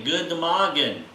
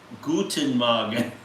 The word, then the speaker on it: Guten Morgen: Okay, good Morgen.